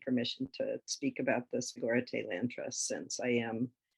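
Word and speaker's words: Sogorea Te: I hope I'm pronouncing that correctly. Sogoreate, yeah. Sorry? Sogoreate.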